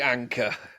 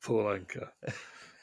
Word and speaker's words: Anka: But anyway, Complete anchor. he did the original Puppy Love. Oh, did he? Yeah, that is Puppy Love by Donny Osmond was a cover of Paul Anka. Anchor is spelled Anka, in case you're getting any ideas.